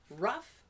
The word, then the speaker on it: rough: We pronounce these with a short U sound and an F. Rough, enough, and tough.